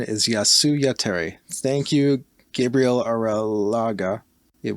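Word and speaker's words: Jasy Jatere: right it's yasuya tere that is how you pronounce it yasuya terry even if we pronounce it wrong for the rest of the episode the proper pronunciation is yasuya terry thank you gabriel aralaga it was uh their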